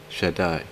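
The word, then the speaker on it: שַׁדַּי: Strong's reference eight seven seven zero six is pronounced Jedi the Hebrew word should die means Almighty it means impregnable and it means most powerful the word should die has no plural form only a singular form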